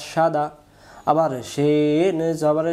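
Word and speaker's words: صاد: দোয়াদ তাহলে আমরা সোয়াদও না দোয়াদও না সঠিক উচ্চারণ সদ বলেন টান দিয়ে বলেন সদ আবার বলেন সদ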